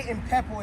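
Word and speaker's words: impepho: So, the way impepo is spelled, it is I, M as in Mary, P-H-E-P-H-O.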